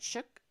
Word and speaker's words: Shook: I hope I'm saying it right. Shook. It's not Schook.